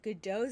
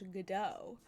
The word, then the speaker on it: Godot: Also, I learned that Godot's name is not pronounced Godot. It's like Godo or something like that.